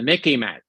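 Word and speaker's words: MICIMATT: worse still we have not the mick but the Mickey mat remember it it reminds it's rhyme sort of with Mickey Mouse okay I'll spell it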